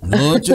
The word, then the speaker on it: Nutt: Conta pra gente a pronúncia. É Nut mesmo. Nut mesmo.